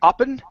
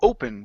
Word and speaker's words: open: open uh right here instead of upen it's O open popped open his laptop